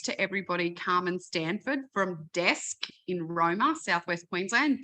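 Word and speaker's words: Desq: But can I introduce to everybody Carmen Stanford from Desk in Roma, Southwest Queensland. Desk is spelled D-E-S-Q.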